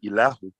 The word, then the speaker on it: Ilahu: I-L-A-H-U. I-L-A-H-U. And that's pronounced Ilahu. Ilahu.